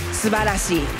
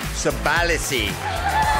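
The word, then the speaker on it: すばらしい: Subarashi. Subarashi.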